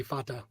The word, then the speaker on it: Fata: Yeah, and actually I pronounced it wrong because I pronounced the A 2 different ways. It'd be Fata. Okay. Fata. Because there's only Luke, you are my Fata. All the vowels only have one pronunciation.